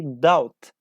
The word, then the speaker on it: doubt: after me if possible we say doubt doubt okay doubt without without B yes B is a